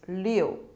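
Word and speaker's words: 六: Number six is pronunciation is leo which is very similar to uh another Chinese character indicating good luck uh which is le six is le and good luck things happen smoothly is le that's the same yeah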